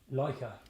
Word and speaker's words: Leica: Leica.